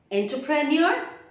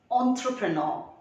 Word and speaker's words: entrepreneur: sets up a business entrepreneur no it is entrepreneur remember en will be pronounced as on and the last r is silent entrepreneur gendry jonah jonah